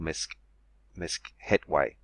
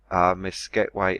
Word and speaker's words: Meskhetyu: But there we see the Bull's Foreleg, which is called Meskhetyu. Slightly different pronunciations, but they all begin Meskhet.